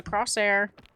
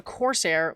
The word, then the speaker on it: Corsair: But, um, I I this keyboard, it it's a cross it's a Crosshair. It's a Corsair. Let me just pronounce things correctly.